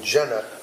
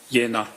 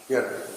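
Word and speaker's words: Jena: V A T E R A medical in Jenna J E N A German. Yeah, it's pronounced Yenna. Yenna.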